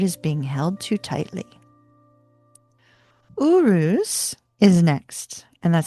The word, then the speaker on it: Uruz: Uruz is next, and that's spelled u r u z i.